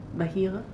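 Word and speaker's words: בהיר: It's the way the light word is pronounced. Bahir.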